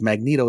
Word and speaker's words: Magneto: that in Marvel Rivals Magneto says it with a hard G and they really upset